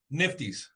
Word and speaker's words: NFTYS: Nico Theater, but you pronounce the awards what? Nifties. The Nifties. Yep.